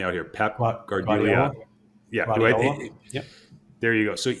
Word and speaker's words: Guardiola: Guardiola.